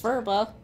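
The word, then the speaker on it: phurba: No, it's a purba. It's a ritual object from Tibet. Looks like it's pronounced furba.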